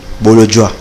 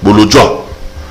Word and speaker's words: Bolodjwa: On a prononcé bien? Bolodjoa. Bolodjoa.